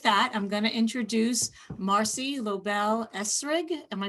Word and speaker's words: Marci Lobel-Esrig: later so with that i'm going to introduce marcy lobel esrig am i pronouncing that correctly yes you are marcy yes